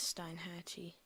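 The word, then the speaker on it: Steinhatchee: I don't know how to pronounce that. That's why I say Stein. It is Steinhatchy.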